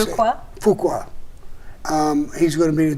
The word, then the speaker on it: Fuqua: Fuqua.